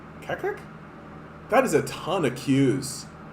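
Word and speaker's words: Qaqqaq: It's got to be pronounced like that, right? Kakak? Kakak? Q-A-Q-Q-A-Q. Kakak.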